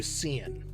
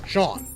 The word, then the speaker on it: Sean: your name's Sean and it's like Sean Connery and they call you seeing I mean that's how you'd like print out I think that's how you pronounce it if you didn't know that it was pronounced shawn should you just leave